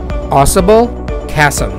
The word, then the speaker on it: Ausable Chasm: the adirondack is the possible castle yes you pronounce this as possible chasm it's a privately owned park i think